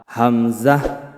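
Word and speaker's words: همزة: হামজাহ হা হামজাহ হা উচ্চারণটি করার সময় কন্ঠনালীর ভিতরে কোন চাপ আসবে না। একদম ক্লিয়ারভাবে আওয়াজটি আসবে।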